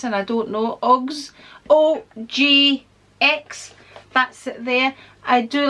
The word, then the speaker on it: OGX: We have a colour retention conditioner by, people keep telling me how to pronounce this and I don't know, OGX, OGX, that's it there.